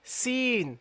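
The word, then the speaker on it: سين: not the dot okay you keep the the tongue in the mouth when you pronounce the scene seen seen you see seen is closed nothing is is not coming out my tongue seen and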